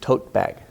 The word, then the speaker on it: tote bag: It doesn't matter how it's spelled. It's going to be unreleased. Tote bag.